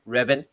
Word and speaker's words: Revan: Go back to the days of Darth Revan. Yes. And Thank you for pronouncing that Preach.